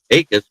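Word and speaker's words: Jacas: Akis pronounced with a silent J was a three-star recruit out of Port St.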